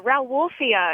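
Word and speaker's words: Rauwolfia: that plant yeah yeah R wolfia it's spelled r o w and then like like wolf and then I a yeah it looks like ra like Rafia comes from the name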